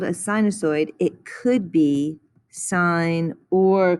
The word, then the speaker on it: sinusoid: of the following and these are pronounced like the word sign sinusoid sinusoid so we're going to